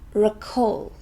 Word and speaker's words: recall: a long way away recall is a verb it has two syllables and we stress this second one recall it means to remember